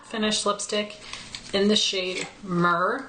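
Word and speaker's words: Mehr: The next one I have is a matte finish lipstick in the shade Myrrh, which is spelled M-E-H-R. So this one's a bit rosier. So right there is Myrrh.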